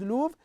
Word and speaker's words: Louvre: It's pronounced as Louvre here. It's a French word, so we can say the Louvre.